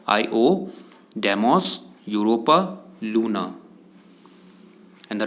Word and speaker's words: Io: It is not pronounced as Lo. It is pronounced as Io, Deimos, Europa, Luna.